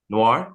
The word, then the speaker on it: Noir: so there are tons of Spiderman like Spider-Man Noir um I hope I'm saying that right Spider-Man Noir how yeah say say it damz Noir yeah you said it right okay Noir Spiderman